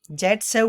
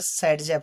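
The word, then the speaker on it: Saytzeff: जेट सेव बोले, या इसका प्रोनाउंसिएशन जो होता है, प्रोनाउंसिएशन होता है वो क्या होता है? सेडजेव होता है।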